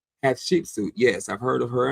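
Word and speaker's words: Hatshepsut: Pat Shepsuit.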